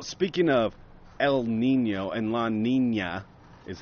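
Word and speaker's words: La Niña: Well, speaking of El Nino and La Nina is how it's pronounced, Brett.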